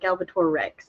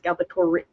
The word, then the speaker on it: Galbatorix: your dinosaur thing his his name is not galor Rex it's galbatorix that's what I've been saying